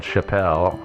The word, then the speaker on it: Chappell: His name is spelled Chappelle, but it's pronounced Chappell, apparently.